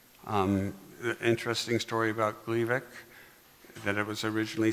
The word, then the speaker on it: Gleevec: that way here because it would be mispronounced gliveck and confused with Glyburide a treatment for diabetes